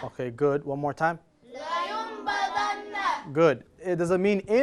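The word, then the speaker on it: لَيُنْبَذَنَّ: Is la, not li. Okay, let's do it. لينبذن. Okay, good. One more time. لينبذن.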